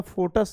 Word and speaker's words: foetus: और कभी गलती से इसका फोटस या अलग अलग लोग इसका प्रोनाउंसिएशन करते हैं, that is incorrect. The correct pronunciation is फीटस।